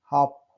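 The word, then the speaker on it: half: Rule number 2 है, कुछ शब्दों में एफ से पहले एल आता है तो एल साइलेंट होता है। काफ, एल साइलेंट है। काफ। हाफ, हाफ तो हमेशा पढ़ते रहते हैं, हाफ बोलते भी हैं।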